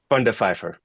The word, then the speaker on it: Van Der Vyver: So, say your last name the way it's properly pronounced. Fundifer. Fundifer.